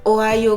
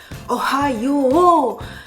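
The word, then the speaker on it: おはよう: Ne dites pas Ohayo gozaimasu, oha avec un he. Ohayo. Le o est allongé. Ohayo gozaimasu. Non pas gozaimasu. Souvenez-vous, le e disparaît. Gozaimasu. Ohayo gozaimasu.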